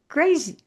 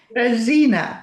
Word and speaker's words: Grazyna: Graian. I think I'm saying your name wrong. So please please correct me. Graina. Graina. My accent was in the wrong spot.